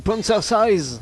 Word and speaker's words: prancercise: prononcer correctement, ça donne quoi? C'est prancercise, si tu préfères.